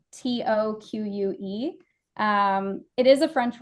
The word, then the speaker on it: toque: the second one I have is a tuque that's spelled t o qu e um it is a French word uh and